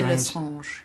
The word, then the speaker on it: Lestrange: You play the, I want to get the pronunciation right, Bellatrix Lestrange? I say Lestrange.